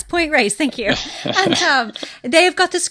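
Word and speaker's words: Point Reyes: I was at Ray's I always say the name wrong what does it raise raise yes point raise thank you they've got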